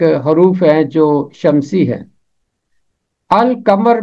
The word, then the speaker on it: القمر: ہیں جو شمسی ہیں۔ القمر میں لام کی آواز خاموش نہیں رہتی، لام کی آواز پڑھی جاتی ہے، اس لیے ایسے تمام